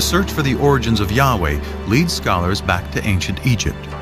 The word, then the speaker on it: Yahweh: his name was was these four letters which in English would be YH wh which we think were probably pronounced something like Yahweh but Yahweh only appears